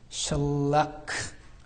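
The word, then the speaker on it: מתושלח: 무드셀라가 무슨 뜻이냐면, 제가 이번에 처음으로 확인했는데, 무드셀라크. 원래 이런 발음인데, 무슨 뜻이냐면, 그가 죽으면 그것이 올 것이다 라는 뜻입니다.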